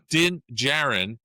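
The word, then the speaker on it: Djarin: enlist the help of legendary Mandalorian bounty hunter Dingjaren dar how do I pronounce that din dingjarn djarn and his young apprentice grou.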